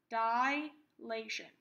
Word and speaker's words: dilation: one we have is dilation again this is pronounced die Latian not dilation dilation is changing changes the size